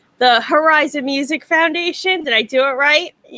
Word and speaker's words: Herizon: Is this how to pronounce things correctly? The Herizon Music Foundation.